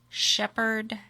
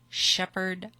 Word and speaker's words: Shepherd: 226 six chipmunk Trail Shepherd and I guess I better say it correctly cuz there's people from out of state it's shepher Texas 77371 however but people here in the area call it Shepherd America Shepherd America all